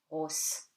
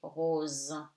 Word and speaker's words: rose: So, S between two vowels becomes Z, rose. Okay, you don't say rose. Okay, you say rose.